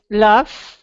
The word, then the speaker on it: laugh: So laugh. All right, it doesn't end with an F, but it ends with an F sound.